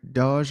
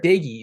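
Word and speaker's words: Doege: I believe is a transfer, Jarrett Dodge, I think is how you say his name. Yeah, Jarrett Dagey is the transfer you're thinking of. Way wrong.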